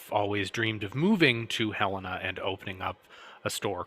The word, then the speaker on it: Helena: a tribute to saint helena uh it's called helena there is some dispute over the pronunciation of that a lot of the southerners tried to call it helena uh folks from the midwest called it helena and that's the pronunciation that sort of stuck